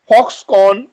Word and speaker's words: Foxconn: Bias এবার manufacturer কারা, bias manufacturer হচ্ছে এএমআই, আসুস, ফক্সকন। ফক্সকনের বানানটা হচ্ছে FOXCONN, একটা এন এর উচ্চারণ হবে না।